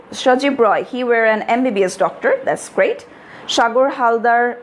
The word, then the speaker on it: MBBS: নাও MBBS যখন আমরা উচ্চারণ করি, we start pronouncing it with a Bhawal sound, M. যদিও লেখাটা কনসোনান্ট দিয়ে, কিন্তু যখন আমি উচ্চারণ করছি আমি আগে কি বলছি, এম, এ আগে আসছে.